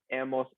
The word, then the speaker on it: hemos: Notice that we do not pronounce the H. Never pronounce the H in Spanish. It's just there for decoration. So, has, ha, hemos, habéis, han.